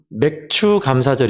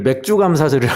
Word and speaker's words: 맥추감사절: 환영하고 축복합니다 아멘 여러분 맥추감사절 입니다 발음을 잘 해야 겠더라구요 점들 맥주 감사절을 해가지고 소주 맥주 할 때 그런 맥주로 오해를 할 썽 싶어서 맥추감사절 입니다 돌이